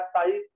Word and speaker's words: psi: जो दिख रहा है साई, कुछ लोग साई बोल देते हैं, कुछ लोग जाई बोल देते, इसकी स्पेलिंग है PSI। तो जब हम हिंदी में पढ़ते हैं तो उसे साई बोल देते हैं, साई, और जब इंग्लिश में पढ़ते हैं तो मैं जाई बोलता हूँ, जाई, तो साई, PSI, पी साइलेंट है, PSI साई कहलाता है, ठीक है।